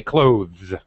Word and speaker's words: clothes: that clothes is actually the proper and correct way to say clothes with a th sound a voiced th sound and there's nothing wrong with that make sure you don't say closes that's always used to